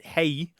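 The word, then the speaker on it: hej: knows Swedish knows that hay is a fairly standard greeting in in Swedish H EJ and it looks a lot like R he and it sounds like our hey and it is related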